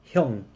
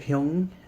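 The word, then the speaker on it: 형: So the word Hyung and kata is identical. It's just the Korean way to pronounce the Japanese word for kata.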